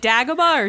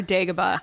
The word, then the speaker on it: Dagobah: to go Jerry uh is it dagger bar Dagobah I don't know I think it's kind of that tomato tomahto thing okay cool I just